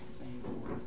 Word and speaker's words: Bangor: Bangor, Maine.